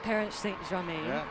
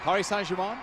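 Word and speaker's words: Paris Saint-Germain: They've moved her into the right outside mid and she plays for Paris St. Jaine. You can probably correct me in the pronunciation. You got Paris Sanjiman. There we go.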